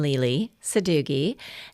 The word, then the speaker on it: Lele Sadoughi: U first of all, they want to know how to pronounce my name. So, nickname Lely Sadooi.